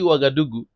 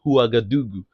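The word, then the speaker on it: Ouagadougou: days when you when we don't even call it wagadoo, it is recently that we learn to to to call the normal pronunciation huagadoo.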